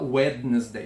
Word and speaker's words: Wednesday: inglês wednesday quarta-feira wednesday perceba que é uma letra D que não se pronuncia ninguém fala wednesday a gente come fora CR D wednesday wednesday então o mercúrio ele